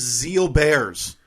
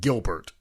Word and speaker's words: Gilbert: to type WTF is Zeal Bears all right well it looks like Gilbert but I'm just learning right now that it is pronounced Zeal bear so to recap the